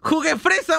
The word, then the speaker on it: Juguefresa: ¿Cómo se dice tu nombre? ¿Uguefresa o Juguefresa? ¡Juguefresa!